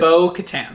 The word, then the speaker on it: Bo-Katan: So, okay, no Bogatan. Bogatan, right? Is how you say it? Bo-katan.